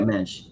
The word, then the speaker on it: Mensch: please tell Ben, I don't know how to pronounce that, but Mensch. Yeah, there you go, Mensch.